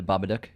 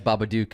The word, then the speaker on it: Babadook: And that is how you pronounce it, The Babadook, like book.